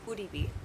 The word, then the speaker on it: Uribe: It's pronounced Uribe.